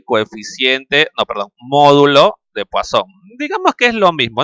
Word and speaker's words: Poisson: escribe de esa forma que por cierto es un apellido francés ya se lee más o menos como poasón ahora también algunos libros